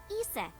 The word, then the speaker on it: Isis: horses mom has named Isis but an ancient Egyptian it's pronounced closer to ISA or ASA hmm how do I